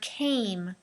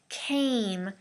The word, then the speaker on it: came: the first one is the word came came make sure that a is very long uh i know with